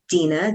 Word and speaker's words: Dina: And to reach out to me directly, my my name is spelled d i n a dena.